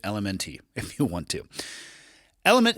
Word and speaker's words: LMNT: to you by element lmnt which is pronounced element or keep calling it elemente if you want to